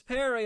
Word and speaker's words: Peri: Well uh Perry actually, but the fairy and I spell it the same.